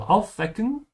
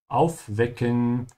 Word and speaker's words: aufwecken: Aufwecken. And remember, if you're a beginner, especially, that the W's in German are pronounced like a V.